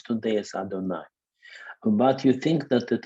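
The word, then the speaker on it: אדני: And every time you say the name of God, which you pronounce today as Adonai, but you think that it is Yud He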